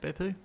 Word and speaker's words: Beppu: 2013, a couple of races over there in Japan, starting off in Beppu. Is that how it's pronounced, Beppu?